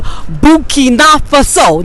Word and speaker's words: Burkina Faso: Yes, we are here in Harlem on 123rd Street, and I met my king brother, and he's from Burkina Faso.